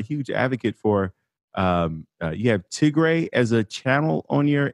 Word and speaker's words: Tigray: Did I pronounce the name right, first of all? Yeah, it would be like Tigray.